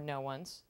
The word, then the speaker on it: Noones: uh David's Place into noon's gallery or no one's Gallery depending on who you are and how you say it one day um just